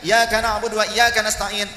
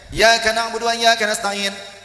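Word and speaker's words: إِيَّاكَ نَعْبُدُ وَإِيَّاكَ نَسْتَعِينُ: Ketika tasdidnya huruf iya, lafaz iyyaka na'budu wa iyyaka nasta'in, contoh dibacanya iyyaka na'budu wa iyyaka nasta'in, maknanya bisa menjadi syirik dan murtad. Kok bisa? Ketika mengucapkannya dengan benar, iyyaka na'budu wa iyyaka nasta'in, itu berarti aku menghamba kepadamu wahai Allah dan aku pun meminta pertolongan kepadamu wahai Allah.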